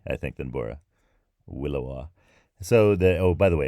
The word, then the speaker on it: williwaw: Some other ones that are that I mentioned at the beginning are the Willowa, which was The Willowa is a wind.